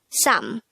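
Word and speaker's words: 삼: Next, the SINO-KOREAN version of number 3 is sam. This is just composed of one syllable.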